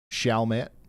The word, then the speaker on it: Chalmette: It's pronounced Chalmette.